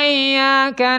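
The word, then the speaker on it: إِيَّاكَ: Ya harus dilatih dari rongga mulut. Iyyaka. Tapi kalau iyyaka ka ada hidung itu. Wah, dibantai saya. Oh, jadi gimana bacanya? Ya harus dikeluarin dari mulut semuanya.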